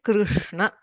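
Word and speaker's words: कृष्ण: Okay, Krishna, R, not Ri, not Ru.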